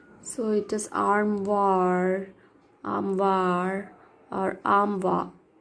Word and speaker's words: armoire: So it is armoire, or armwa. R is silent in British.